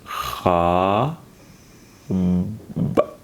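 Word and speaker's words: خاب: Kha, with a, pronounce it kha, b, letter ba, khab, khab. That's how we pronounce.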